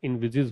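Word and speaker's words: envisages: इसका प्रोनाउंसिएशन भी ध्यान रखिएगा, इनविजिज होता है ये।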